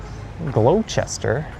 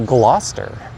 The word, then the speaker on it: Gloucester: And the common misprononunciation for this one would be Glowchester or Glowchester, but it's actually Gloucester. G L A W S T R would be an easy way to remember how to pronounce it.